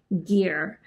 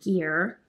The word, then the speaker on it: GIR: get it right and I believe they like to pronounce their name as gear now this summer tool